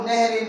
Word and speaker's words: نهر: موږ ورته نهر وایو او عربی کې دا نهر دی او صحیح تلفظ هم د دې نهر دی، نهر.